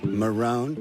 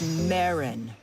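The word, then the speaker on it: Marron: how big you've gotten Marone that's meirin if you get it wrong again you're dead you got a stereo sorry I said it wrong meirin so in a what-if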